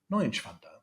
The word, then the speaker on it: Neuenschwander: my guest today being Dr. Neuenschwander. Neuenschwander, that's great pronunciation, German pronunciation.